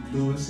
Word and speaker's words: Luiz: Luiz, I want to thank you for taking this time this morning to come in here and talk with me.